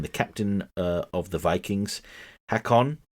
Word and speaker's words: Hakon: The captain of the Vikings, Hakon, pronounced like Hagon, from Gargoyles.